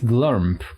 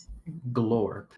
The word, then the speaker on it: Glorp: Basically, you helped Vostarava, the Mind Flayer, interrogate Glump. Glump? Am I pronouncing it right? Glorp. Glorp. Okay, yeah, I had a feeling.